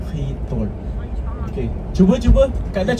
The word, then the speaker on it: Giethoorn: Ha dia macam kha kha lembut eh. A tapi kalau ejaan dia tulis G. Aa G. A G I So tapi dia sebut hitor.